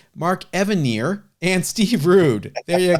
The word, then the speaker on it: Evanier: Mark Evanier and Steve Rude. There you go. It would be rude of me to mispronounce his name.